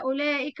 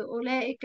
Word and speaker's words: أولئك: فيها الألف بعد اللام، الألف في أولئك بعد اللام تنطق ولا تكتب.